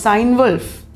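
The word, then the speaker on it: Cynewulf: of old english kaitman kinevolf sometimes he is pronounced sign wolf ill frick venerable bead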